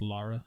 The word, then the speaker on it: Lara: It's pronounced Lara.